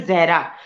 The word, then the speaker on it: जहरा: actually मेरा नाम actually मेरा नाम जो है जहरा तो मोस्टली जो नॉन मुस्लिम होते हैं वो प्रोनाउंस नहीं कर पाते वो जारा बोल देते हैं ठीक है तो